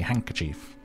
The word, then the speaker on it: handkerchief: a delicately patterned handkerchief handkerchief handkerchief do you pronounce the d I feel like just say handkerchief the D is silent well I've seen that